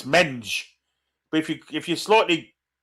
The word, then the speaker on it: Mendes: Gets a foot in and concedes the throw in, which Mendes takes. Mensch, yeah, that'd work. But because the pronunciation of Mendes isn't like we say it, Tom, it's Menge.